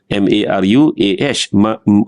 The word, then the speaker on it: maruah: bahasa Melayu Marwah sebenarnya ejaan dia tu m a r u a h sepatutnya maruah dia baca gitu ya tapi dia dah